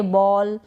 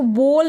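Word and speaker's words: ball: यहां पर यह जो ए है इसको अ पढ़ा जा रहा है। ओ नहीं पढ़ा जा रहा है। इसको बोल नहीं पढ़ रहे हैं। हम पढ़ रहे हैं बॉल।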